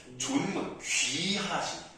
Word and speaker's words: 존문: 첩이 존문, 이 존문이라는 게 저 발음 잘하셔야 돼요. 존문, 귀하신 가문. 예, 그 존입니다. 그렇죠. 존중하다 할 때 그 존이에요.